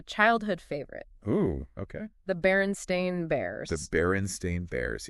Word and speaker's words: Berenstain: do you spell that b e r n s t i n baren stain but a lot of people remember it as b e r n s t e i n barenstein right and apparently there